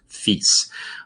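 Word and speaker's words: Fis: going to pronounce cease F sharp I'm going to pronounce fees um and that allows us to say Sharps with one syllable D these so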